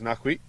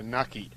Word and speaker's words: Naki: So now it is Nakwi coming in. Coming in. Or Naki. I think he's also. Lucky. Rogers. So Naki. That's the pronunciation, I'm told.